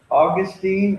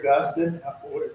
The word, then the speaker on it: Augustine: But anyway, he said Saint Augustine or Augustine, take your pick, how do you want to pronounce it, and to Kent, and